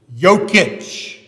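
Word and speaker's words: Jokić: is the Joker because his last name is yokich and they call him the Joker because it's spelled with a j it's from Serbia now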